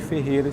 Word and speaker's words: Ferrera: Só que aí, na conversa, se percebeu que as pessoas, ao pronunciarem a palavra Ferreira, eles não pronunciavam o I. Então a gente tirou o I e ficou Ferreira sem o I, né?